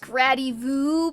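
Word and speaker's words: Gradivus: It's pronounced Gradivu because it rhymes with Camus.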